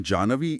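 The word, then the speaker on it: जाह्नवी: इसका सही उच्चारण जानवी इसलिए है क्योंकि पौराणिक कथाओं के अनुसार झु ऋषि ने एक बार क्रोध में आकर पूरी गंगा को पी लिया था।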